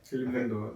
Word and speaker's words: Hayley Melinda: Hayley Melinda. Yeah, is that how you pronounce it? Yeah.